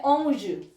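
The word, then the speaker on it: onze: आगे चलते हैं 11 से 20 तक है औज औज यानी को बोलते हैं औज ठीक है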